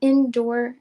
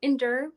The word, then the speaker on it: Endure: for you guys the indoor indoor I keep saying it wrong endure Beauty there it is um